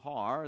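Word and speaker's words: הר: two words Armageddon is from the Hebrew har the H is silent and it means a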